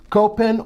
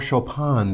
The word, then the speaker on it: Copen: To an even smaller vehicle, and that's the Daihatsu Copen or Chopin, depending on your pronunciation of the vehicle.